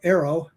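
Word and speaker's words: AARO: statement like that about Arrow that's how we pronounce the acronym NOW Arrow um that statement may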